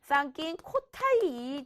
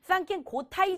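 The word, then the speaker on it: 参勤交代: 그것이 바로 뭐냐면 쌍낀 코타이 제도가 나옵니다. 이것은 여러분들 책마다 다 달라요. 쌍낀 고타이 제도라고 나올 수도 있어. 왜냐면 이게 외래어다 보니까 충분히 발음상의 차이라서 여러분들 책에 있는 대로 외우십니다.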